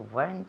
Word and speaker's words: weren't: It sounds like instead of E, like an O. Weren't? A little bit. A little bit, okay. Pero sí. Pero it's really an E. It sounds more like an E. Weren't.